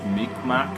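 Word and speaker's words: Mi'kmaq: guy behind it is from the meek mac tribe or something that lineage it's mi and it's like a apostrophe qmaq that's how it's spelled but yeah just you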